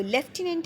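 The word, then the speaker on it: lieutenant: word देख रहे हैं आपको इसमें कहीं भी एफ नजर नहीं आ रहा लेकिन जब भी आप इसको प्रोनाउंस करेंगे तो ये बन जाएगा लेफ्टिनेंट आप इसमें एफ साउंड देंगे तो उसने लेफ्टिनेंट से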